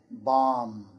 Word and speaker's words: bomb: For example, climb, comb, thumb, and bomb. The B is silent there.